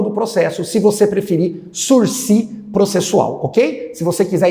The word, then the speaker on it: sursis: Mas é uma palavra francesa, começa com S, termina com S. Quando é assim, a gente não pronuncia o segundo S, fica esperto, não vai falar sursis, que você vai passar vergonha.